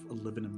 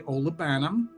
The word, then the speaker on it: olibanum: Now, some people say olibanum, which, you know, it's not technically the way to pronounce it, but I don't want to offend people who choose to pronounce it that way, you know, whatever floats your boat.